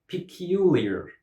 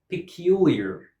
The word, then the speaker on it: peculiar: Peculiar. Peculiar. Peculiar. This word has 4 syllables because we hear 4 sounds, 4 vowel sounds.